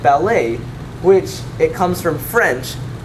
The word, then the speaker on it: ballet: remember that in french if you have a a sound at the end it's probable that you'll have a spelling like e t since the t becomes silent the part of speech